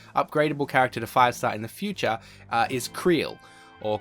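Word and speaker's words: Krile: is so annoying because in Japanese it has one pronunciation, Kururu, and then of course in the English translation they give us like a million different ways to pronounce it, and nobody can agree on how you do it.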